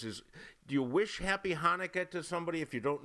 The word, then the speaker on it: Hanukkah: do wish them happy hanukkah um you pronounce it with a lot of phlegm there there are some